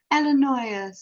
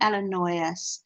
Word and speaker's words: Illinois: cathy grew up in illinois oh that's amazing oh so you you you grew up in illinois the s is silent ellen not oh which